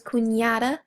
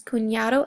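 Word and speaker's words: cuñado: And what that does to the N is give it kind of a Y sound. So it's kunada and kun.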